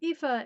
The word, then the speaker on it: Aoife: how you pronounce it it's an Irish name I could have gone with the more like way of spelling it but this way seems less scary and intimidating to readers this one Aoife is a mechanic with